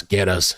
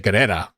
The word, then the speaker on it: Guerra: It's 2 syllables, or not 3 or something. I think I was saying Guerrera. Or what was I saying? Guerrera or something? But I think it's just Guerra.